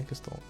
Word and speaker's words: Gestalt: Um, Gestalt mode, I'm assuming that's that's that's how that's pronounced, right? Close enough. Gestalt. Yeah, Gestalt. Gestalt mode.